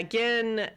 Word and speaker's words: Gin: has yeah I know they spell it g i n and so when I write it in my notes I put an H in there just to remind me that it's a hard G yeah but yeah so